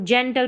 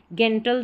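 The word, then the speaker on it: gentle: तो यहाँ पर जी को हम ज प्रोनाउंस करेंगे, जैसे इसको जेंटल पढ़ेंगे। अब कन्फ्यूज़न नहीं रहेगा कि हम जी को गेंटल तो नहीं पढ़ रहे हैं या जनरल पढ़ रहे हैं, तो ठीक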